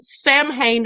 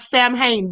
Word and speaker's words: Samhain: It looks like Sam Hain, but it's Samhain. That's the way you say it, Samhain.